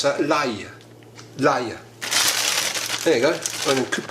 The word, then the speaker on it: l'ail: Do you know, in France they pronounce that l'ail.